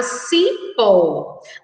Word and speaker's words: cipó: Crianças, nós temos aí a palavra cipó. A sílaba destacada é a sílaba si, que tem o som de S.